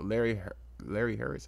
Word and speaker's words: Larry Hurwitz: The star, Larry Hurwitz is how you say it.